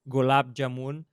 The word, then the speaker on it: gulab jamun: This how you say it, gulab jamun.